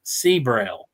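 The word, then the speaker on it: Sibrel: A lot of times when I look at evidence, you got to look at Seabrel. That's how you say it, Seabrel.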